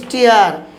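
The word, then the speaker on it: steer: তারপর দেখুন আছে এস টি আবার ডাবল ই আর, এক্ষেত্রে উচ্চারণ কি হচ্ছে স্টিয়ার।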